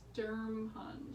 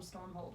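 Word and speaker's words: Sturmhond: I think he's Sturmhund. Sturmhund, yeah. And I keep wanting to call him Stormhold, which is, like, not a thing.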